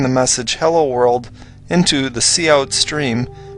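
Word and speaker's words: cout: all of the interesting work in this program cou T is pronounced C out and it is the output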